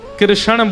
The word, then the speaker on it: कृष्ण: ठाकुर जी का नाम लोग अधिकतर कृष्ण शब्द का उच्चारण गलत करते हैं। कई लोग कृष्ण कहते हैं। कई लोग कृष्णा बोलते हैं। कई लोग कृष्ण बोलते हैं। बहुत उच्चारण उसका शुद्ध नहीं कर पाते। शुद्ध उच्चारण कृष्ण जय।